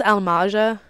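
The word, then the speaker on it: Amalj'aa: The enemy that'll be showing up on the screen very soon, it's pronounced Almaja. Amalja?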